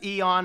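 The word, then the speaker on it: Eoan: somebody over on reddit how do you even pronounce this answer I can't install Debian no no no that's Eon it's just the British spelling different from us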